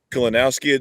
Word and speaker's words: Kalinowski: Kalinowski. Did I pronounce it correct?